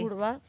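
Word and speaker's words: Wrba: Se escribe W-R-B-A el apellido, pero aprendí este año que se pronuncia así. Urba.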